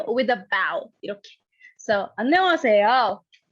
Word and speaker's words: 안녕하세요: But you won't pronounce it. You'll say 안녕하세요, 이렇게. All right? So one more time, this time with a bow, 이렇게. So 안녕하세요.